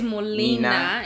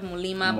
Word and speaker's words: Muliima: again mo lima so we're still walking on the pronouncing the m instead of the instead of the end he says molina instead of mulima but he's almost there